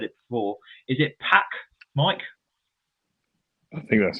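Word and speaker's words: PAOK: Is it PAC, Mike? I think that's how you say it. Yeah, PAC.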